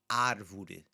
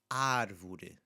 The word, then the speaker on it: árvore: So the first word that we see there is the word for tree, and you'll hear this open A sound at the beginning, árvore, árvore, okay, árvore.